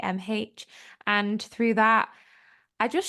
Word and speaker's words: Niamh: It's spelled the Irish way, so it's Niamh.